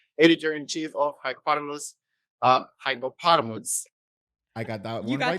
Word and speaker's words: Hypepotamus: Oh my God, so bad at pronunciation, but very happy to have you here, editor in chief of Hypepotamus. Hypepotamus.